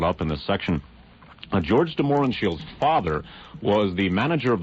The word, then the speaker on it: de Mohrenschildt: It's a man named George de Mohrenschildt, and de Mohrenschildt is spelled D-E, then capital M-O-R-E-N-S-C-H-I-L-D-T.